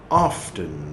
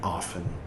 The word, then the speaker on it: often: They go up there zigzag, slowly rising, often stationary, often often. Nobody pronounces the T. You sound like a fool if you pronounce the T.